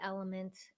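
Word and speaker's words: LMNT: electrolyte supplement that you really enjoy I use element it's spelled l m NT and I will leave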